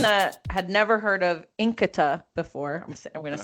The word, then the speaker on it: Nkita: So for someone that had never heard of Nkita before, I'm going to say it right.